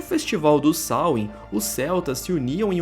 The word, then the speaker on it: Samhain: antiga Tudo começa com o sain que se pronuncia dessa forma mesmo era um festival Celta